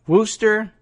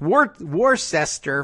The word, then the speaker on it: Worcester: There's a paragraph in here about, well, the convention is in Worcester, I guess is how they would pronounce that up there in Massachusetts. It's Worcester to anybody who's spelling it out.